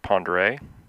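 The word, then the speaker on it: Pend Oreille: Flight will follow the Clark Fork River and Highway 200 to Lake Pend Orville, pronounced Pondere.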